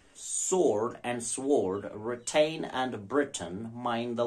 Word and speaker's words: Britain: it's retain that is Britain sword and sword retain and Britain mind the letter how it is written now Britain it exactly rhymes with written sword and sword are